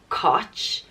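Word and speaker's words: Cáit: itch and it's not koch it's kind of in between the two so a very subtle I sound so Koch and it's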